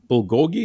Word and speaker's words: bulgogi: my favorite restaurants and they have um it's bulgogi is is am i pronouncing that right that's what you're saying there